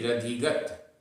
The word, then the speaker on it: रधिगत: यहाँ पर भी रधिगत ऐसा बोलना है।